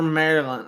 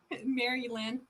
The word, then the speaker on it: Mary Lynn: the tunnel just just like for marilyn or mary all right how do you say your name mary lynn all right for mary lynn right here she wants